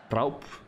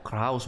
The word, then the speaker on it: Kraus: Kraup. Oh, Kraus bacanya, bukan Kraup. Saya kira Kraup. Montes, slow.